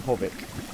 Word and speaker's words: Hovik: I've been pronouncing it Horik all this time. And it's called Hovik.